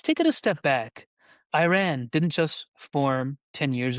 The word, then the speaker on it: Iran: It has influences from Zoroastrianism, poetry, architecture, and just for edification, it's actually pronounced Iran and it's officially called Islamic Republic of Iran, a theocratic state that is located in the Middle East.